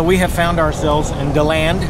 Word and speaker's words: DeLand: So we have found ourselves in DeLand, not DeLand, Florida. DeLand! DeLand, if you're looking to pronounce it.